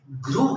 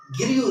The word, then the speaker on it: grew: अच्छा, इसी तरह GREW ग्रू है, ग्रू, गिरियू नहीं है, हम ज्यादातर इसको भी गिरियू पढ़ते हैं, तो ये गिरियू नहीं है बल्कि दिस इज ग्रू।